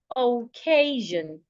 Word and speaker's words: occasion: has three syllable OAS now the stress the rule says that when you have a word that has three syllables and it ends in i o n you should stress the syllable before the i o n that is why I am stressing c a k occasion not occasion I'm going for an